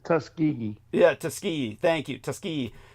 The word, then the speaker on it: Tuskegee: nod to the Tuskegee Tuskiggee experiments. How do I pronounce that correctly? Say it the way a Southerner would for me, Troy. How is it? Tuskegee. Tus. It's just Tuskegee.